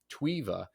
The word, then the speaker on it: Tweva: to correct that name twea it's actually we pronounce it twea it's more like the TV TWA um but